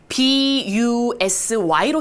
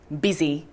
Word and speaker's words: busy: 그 대표적인 아이가 바쁘다라고 할 때 우리 스펠링은 B-U-S-Y로 쓰는데 U가 E로 발음되는 경우가 바로 대표적인 게 이겁니다. 자, 우리 그러면 B에다가 U, 근데 이번에는 E로 발음되니까 B. 좋아요? S-Y-Z. 좋습니다. 연결해 보도록 할게요. busy.